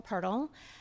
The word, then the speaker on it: Pirtle: My name is Pirtle. Sounds like turtle, but not spelled the same.